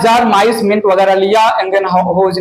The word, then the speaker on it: Ingenhousz: आए, तीसरा नाम लिया मैंने जॉन एंगेन, HOUSZ, जॉन INGENHOUSZ, एंगेनहोज मेरा प्रोनाउंसिएशन है, कुछ और भी प्रोनाउंसिएशन हो सकता है।